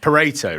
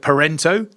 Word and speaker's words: Pareto: I ask myself this question sometimes because it's pronounced Pareto, right?